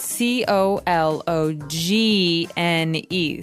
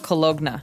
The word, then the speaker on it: cologne: It ends with uh it it's spelled C O L O G N E. So you don't really say the G. It's not cologna, right? It's cologne.